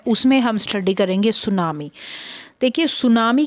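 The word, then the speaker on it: tsunami: है हर्बल और नामी टी साइलेंट हो जाएगा श हम इसको बोलेंगे तो इसका मीनिंग होता है वेव्स सुनामी और पॉपुलर एक तरह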